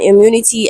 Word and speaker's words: immunity: So still under word stress the word is immunity and immunity has a stress on the second syllable.